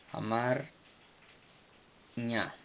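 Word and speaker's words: አማርኛ: A ver, amárico, a mar, amar, amar. Ña. Amárico, en verdad se pronuncia en su forma etíope, se pronuncia Amarña.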